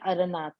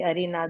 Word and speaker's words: अरनाथ: चंद्रप्रभ, और एक है अरनाथ। अरहनाथ बोलते हैं, कोई अरिनाथ बोलते हैं, तो वो अरनाथ।